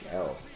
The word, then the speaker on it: Riehl: After the power goes out, he sees his neighbor, the mustache guy, Richard Rail. I don't know how to pronounce it. It's Riehl.